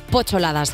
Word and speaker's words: P8ladas: humorista Gráfica y novelista pochol ladas Cómo estás Laura Muy bien pues fenomenal hablemos de tu nombre lo primero porque es pochol ladas se escribe una p un o y ladas y estaba diciendo que